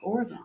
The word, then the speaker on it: Oregon: But when you get up there, you have to say, Oregon. My pinky just came out by and said, Oregon. Yeah. You got to say it right for up there.